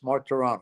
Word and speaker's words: Martorano: Martorano, is that correct? Yeah, 3 syllables. Martorano, yes. Martorano. Okay. So And very obviously Italian.